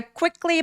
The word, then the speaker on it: quickly: 자, quickly 발음할 때 quickly ke 이렇게 한꺼번에 발음하지 마시고요. 쿠위라고 입술을 쭉 내밀어서 발음해 주시는게 포인트예요. quickly. I quickly. 그리고 클리보다는 끄라고 발음하셔도 됩니다. I quickly try to.